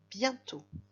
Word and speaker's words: bientôt: Bientôt, ça s'écrit d'un côté avec le mot bien, qui s'écrit B-I-E-N. I-E-N ça fait yin, on s'en souvient. Bien. Et de l'autre côté avec le mot tôt, qui s'écrit T-O-T, donc le T à la fin est muet, et on remarque sur le O l'accent circonflexe.